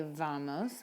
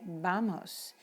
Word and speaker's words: vamos: because we don't say vamos we say vamos we don't say vaca we say and verdes so the v sounds like the letter b in spanish also the letter z